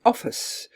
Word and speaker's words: office: And then the second syllable, office, because they've now been saying office, and they would probably recognize that the I is in fact a schwa.